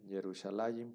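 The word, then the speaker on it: ירושלים: Que se escribe o se dice Yerushalayim, por ahí ya lo vimos.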